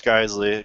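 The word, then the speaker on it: Geissele: Gata and I think she knows how to pronounce her own name yeah it's guy it's geisle cuz he says it on one of his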